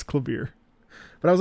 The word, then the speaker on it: Klavier: It's clavier.